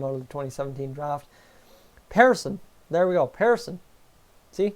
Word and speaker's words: Persson: Persson.